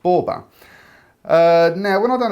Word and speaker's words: Boaby: of assumed it was still meant to be pronounced as in baby but i' done a bit of researching last night and it is actually pronounced bber uh now when I done a bit of